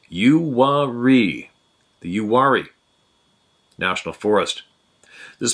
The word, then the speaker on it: Uwharrie: My experiences take place in North Carolina, USA, not too far from pronounced Uwharrie, the Uwharrie National Forest.